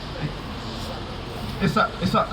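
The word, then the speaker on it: Isaaq: Isak.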